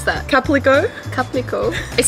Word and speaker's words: Calpico: How do you pronounce that? Calpico.